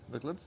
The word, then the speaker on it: McLeod's: Mc'Leods, there you go.